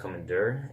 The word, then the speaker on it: Commandeur: Commander is an awesome last name, but the thing is, it's spelled E-U-R at the end. It's supposed to be pronounced Commander, and I didn't really want people to always mispronounce the name.